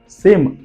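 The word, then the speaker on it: psalm: let's see सम example spelling देखिए साम पी एस ए एल एम साम का मतलब होता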